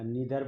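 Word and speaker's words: neither: नार के साथ हमेशा नाइदर लगता है, या नीदर बोल देते हैं प्रोनाउंसिएशन इसका। अब होगा मैथमेटिक्स पार्ट, देखते हैं।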